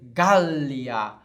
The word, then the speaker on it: Gallia: nós fazemos Gália certo quando nós temos duas consoantes acontece isso dá um tempo a mais na pronúncia nós vamos dizer op de um vamos dizer gallia vamos dizer Britânia certo Então temos que